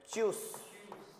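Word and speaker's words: tschüss: क्या साउंड होगा इसका? चूस।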